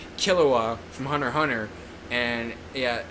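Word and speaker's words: Killua: Hunter Hunter the dub pronounces his name is kilua but it's actually pronounced kilua from Hunter Hunter and yeah that's how it's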